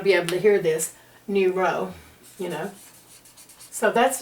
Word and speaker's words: neuro: here we go zero it's pronounced new row of course and of